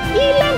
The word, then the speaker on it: Elaina: Dukung terus, komen, share sebanyak-banyaknya, subscribe dan follow juga Instagramku di Elaina, bacanya Ilan.